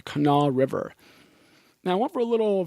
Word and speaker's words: Kanawha: how they say it it looks like Kanawa to the rest of us ka na WH a but I think this I think they pronounce it the canal River now one for a